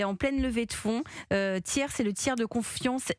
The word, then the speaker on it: Ti3rs: Tiers, ça s'écrit TI3. RS, c'est une application.